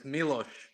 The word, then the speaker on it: Milosh: Milosh out. When you say his name, it's Milosh, like SH. Say whose name? You call him Milos, but his name is Milosh.